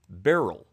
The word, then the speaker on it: Beryl: always pronounce the name Burl like Milton Burl and I've heard people with this name who pronounce it Burl but many many people and this pronunciation guide say it should be pronounced as Barrel so I look at